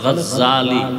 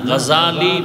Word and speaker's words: গজালি: বলে গজ্জালি না, গজালি বিশুদ্ধ উচ্চারণ, গজ্জালি না।